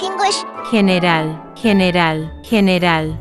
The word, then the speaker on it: general: General, general, general. It is with the throaty.